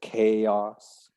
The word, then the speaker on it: chaos: things change um it's not too hard to pronounce that one just learn it as chaos yes i like it separated vowel sounds chaos